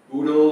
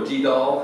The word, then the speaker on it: GDAL: down functioning you know Frank oodle or gdal however you want to pronounce it Frank's been working on